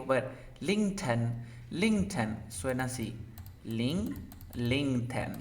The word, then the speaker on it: LinkedIn: LinkedIn. Ya, ahora esta T está entre un sonido de vocal nomás. Por lo tanto, tengo que pronunciar la T.